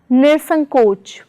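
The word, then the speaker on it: निस्संकोच: Prefix nir plus sankoch is pronounced as nirsankoch.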